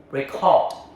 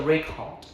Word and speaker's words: record: As a noun, a written document, first syllable, record. Okay, listen to the record. As a verb to capture audio, second syllable, record. Record. I will record a song. Say it with me. Now, record. Verb, record. Okay.